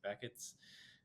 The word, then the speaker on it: Behçet's: So firstly, like from a young age, I was like diagnosed with like an autoimmune disease called Behçet's, or some people pronounce it Beckett's.